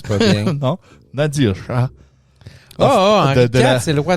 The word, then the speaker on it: Nadir Shah: En Inde, Nadir Shah. Excusez. Tu le prononces pas bien. Non, Nadir Shah.